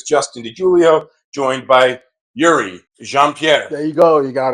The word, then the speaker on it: Youri Jean Pierre: my name is Justin de Julio joined by Yuri jeanpierre there you go you got it you got the pronunciation correct uh we're coming at you live